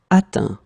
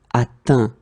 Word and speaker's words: atteint: Atteindre, atteint. Okay, so this nasal is quite tricky. Tricky. Normally students can have some difficulties because they're a bit stressed to see this E-N. Phonetically, it's un. Atteindre, and same thing here, atteint.